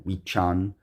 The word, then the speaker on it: Wiccan: It's actually Wicha and Wichi and Wichan, but I'm not doing that. It has to do with the Old English pronunciations of those words, okay?